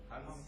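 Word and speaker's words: हँस: You can see the difference the way I am pronouncing the two words. Has, Hans.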